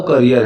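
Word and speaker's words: career: अब इसकी जो प्रोनाउंसिएशन है ना, वो करियर है। मैंने बहुत से लोगों को कैरियर बोलते हुए सुना है, कैरियर बिल्कुल गलत प्रोनाउंसिएशन है, the right pronunciation is करियर।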